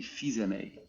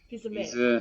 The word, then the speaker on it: Fils-Aimé: Reggie Fils-Aimé. Fils-Aimé.